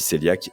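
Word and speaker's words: cœliaque: Donc 1 2 % de la population, c'est c'est les personnes qui souffrent de la maladie céliaque qui s'écrit cohéiaque d'ailleurs, mais ça se dit céliaque et c'est une vraie intolérance sévère qui est autoimmune au gluten.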